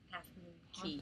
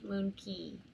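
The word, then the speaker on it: Half Moon Cay: then Friday which is today we went to Half Moon Key Half Moon Key I said so if you've never been on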